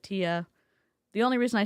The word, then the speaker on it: Thea: Let's Before we start with Tia, she spells her name T H EA. She pronounces it Tia.